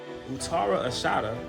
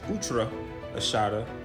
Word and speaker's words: Uttara Ashadha: Utara Ashada or what some people may pronounce utra Ashada means the invincible one.